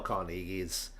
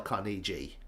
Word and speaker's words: Carnegie: For the past 25, 30 years, I've always referred to him as Dale Carnegie, because I'm British English, and that just looks like a Carnegie, not a Carnegie.